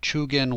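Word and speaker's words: 中間: talking about Samurai attendance the word is chugan so nakama that pronunciation of nakama that is specifically for guilds and chug in is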